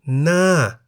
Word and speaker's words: หน้า: For example, Na, meaning face, is in the falling tone because the word Na has one syllable that begins with a high-class consonant Ho Heb and has the tone mark Mai To.